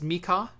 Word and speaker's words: Michał: Um, it's looks like Michael, but it's Mika, and then it's Kiciński.